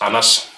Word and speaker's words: Anders: to anders jensen wow that name is very difficult to pronounce in english in danish it's anas well he's like the